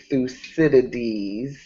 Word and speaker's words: Thucydides: Can I say while Randie is back that the name of that Greek historian, Randie, is Thucydides.